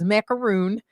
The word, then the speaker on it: macaroon: Is it macaron or is it macaroon? It depends on which one. Remember we talked about it depends on whether or not it's like that coconut thing that you eat on Passover. Yeah. Or Right. It's macaroon. Macaron is uh is that crunchy kind of sandwich that's filled with yummy goodness.